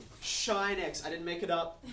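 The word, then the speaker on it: sinh: has a brother named Believe It or Not shine X I didn't make it up that's how they pronoun it pronounce it mathematicians whatever okay CH now you're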